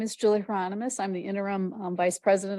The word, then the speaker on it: Hieronymus: Next up, I have Julie Ronimus. Did I say it right? So good evening, everyone. My name is Julie Hieronymus.